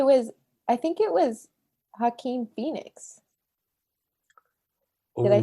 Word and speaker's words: Joaquin: um no it was i think it was hakeem phoenix did i say his name right yeah